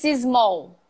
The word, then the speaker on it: small: It's small. It's small. Do you do that? It's small. It's small. Doubling the S, putting an I in the middle.